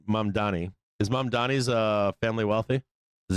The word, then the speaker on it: Mamdani: Mamdami's father is a film producer. No shit, I didn't know that. Are they wealthy or not? Is Mamdi wealthy? Did I say his name right? Mamdani.